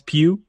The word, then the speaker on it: Pugh: Is it really Pugh, or are we just mispronouncing her name? No, it's Pugh. Oh, Pew. Okay. Like, P-U, you know?